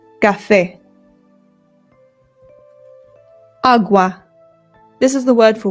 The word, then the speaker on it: agua: Please don't say it that way if you're trying to speak Spanish. It's agua. Agua.